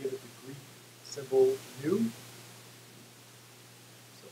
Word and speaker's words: nu: It's used, we typically give it the Greek symbol nu. So it's spelled that way, it's pronounced nu, W, but it looks like a sort of script B.